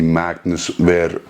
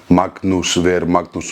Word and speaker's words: Magnús Ver Magnússon: my experience with the Magnus where let me say it correctly in Alantic Magnus ver magnos strongman classic 2023 the